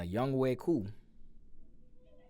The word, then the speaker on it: Younghoe Koo: The Falcons ended up winning the game 26-24 on a Younghoe Koo. That's how you pronounce it.